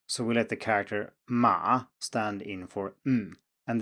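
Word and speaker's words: 妈: compounds as that character which is pronounced like ma but is related to mother i ma and as we can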